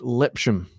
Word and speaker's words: Lipsham: believe it or not my last name is lip Shem that's how it's meant to be pronounced and most people they